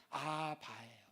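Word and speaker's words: אבא: 쓰셨죠 아라는 뭐냐면이 아버지가 아바요 아바 우리나라 아빠라는 발음하고 비슷하죠 아빠라는 거예요 아빠이 아바가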